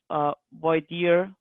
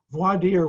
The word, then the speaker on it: voir dire: done in that fashion voir dire which is taken from the french and we all mispronounce including me as a rule is